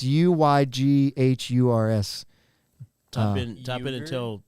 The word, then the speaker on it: Uyghur: the Uyghurs.